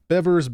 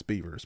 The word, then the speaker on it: Bevers: the missy bevers case bevers beavers i've heard it pronounced different ways i'll probably pronounce it both ways tonight beavers bevers um but um i do believe it's i do believe it's beavers but is anybody here